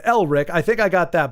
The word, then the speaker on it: Elric: that except for of It's not Eric. So, you got Elrich.